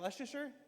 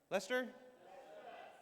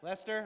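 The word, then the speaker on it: Leicester: How do you say is that Lasher? Lester. Lester.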